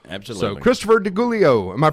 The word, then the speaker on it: DeGiulio: So Khristopher DeGiulio, am I pronouncing that right? It's DeGiulio. DeGiulio.